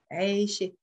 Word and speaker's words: عايشة: When عايش, there is a kasra under the عايش. But if I want to change it into feminine, I'm changing this kasra here under the ye into a sukun. And it's becoming when عايشة. وين عايش there is a كسرة under the ي.